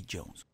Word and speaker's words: Djoenz: Howdy y'all, this is your boy, aka Djoenz. The D is silent.